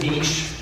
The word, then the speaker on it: niche: clear up the misconception you can pronounce Niche any way you like I pronounce it Niche mainly because of my high school French the same reason I